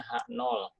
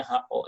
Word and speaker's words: H0: Ini dibacanya HO ya, salah ya. Jadi H0 aja.